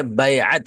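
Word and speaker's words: بیعت: आइन और ता है वो, हम लोग उसको उर्दू में खाली बैत बैत बोल देते हैं, असल में जो उसका प्रोनाउंसिएशन है बैअत है।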